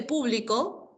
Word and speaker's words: público: Cuando pronunciamos público, público, equivale a un conjunto de personas. ¿De acuerdo? Público equivale a un conjunto de personas. ¿Ya? Y si digo publico, publico equivale a la acción de publicar en presente.